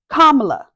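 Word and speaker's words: Kamala: At some point, her great nieces even came out to demonstrate how to correctly pronounce their auntie's name. Kamla, like thybar, someone tweeted, "So when they mispronounce Kamla, don't try to correct them.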